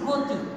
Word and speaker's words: গতি: খেয়াল করি, গতি, আমরা কিন্তু গতি উচ্চারণ করছি না, আমরা বলছি গতি। এখানে একটি অকার ছিল, এই অকারটা আমার কিসে পরিণত হয়ে গিয়েছে, ওকার, গতি, গতি, আমি ওকার দিয়ে বলছি, ওকার।